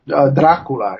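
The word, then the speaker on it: Drácula: No, it's actually called Dracula. It has an accent on the A.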